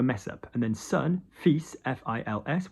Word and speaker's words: fils: And then son, fils, F-I-L-S. We shouldn't pronounce the S, but we do.